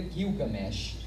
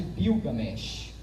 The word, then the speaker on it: Gilgamesh: A pronúncia mais coché, assim, mais exata, seria Gilgamesh. Mas há gente que sustente que os sumérios falavam, na verdade, Bilgamesh. Seria uma outra pronúncia.